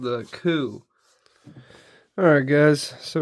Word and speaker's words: KUH: This time we got one from Kizer called the KUH. Alright guys, so right here we have the Kizer KUH, pronounced C-O-O in English, but spelled K-U-H.